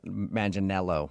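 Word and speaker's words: Manganiello: Uh, because we talked to him and he told us that a lot of people say he looks like Joe Manel Maninello, right?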